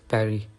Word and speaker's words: Paris: For example, in the word Paris, we pronounce it as Paris. So the S is also silent at the end, and the R is pronounced softer.